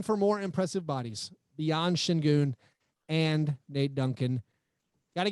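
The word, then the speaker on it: Şengün: euphemism question number three did i just mispronounce alperin shin goon's name no i think i think you said it correctly i will say shin goon very very very impressive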